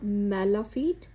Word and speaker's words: mala fide: तो अगर हमने इसे लैटिन में प्रोनाउंस करना है तो मैं आपको वो भी बताती हूँ। तो वो होगा मेलाफीट और वोनाफीट, मतलब ऐसे लैटिन में प्रोनाउंस करेंगे। और इंग्लिश में तो जैसे एज यूजुअल हम कर ही रहे हैं।